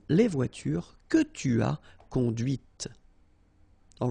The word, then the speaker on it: conduite: And that's when you hear the difference between conduit, because remember, final T is not pronounced, conduit, here, and then the feminine, conduite. Okay, so here you can listen to this t, okay, conduite. All right, c'est la voiture que tu as conduite.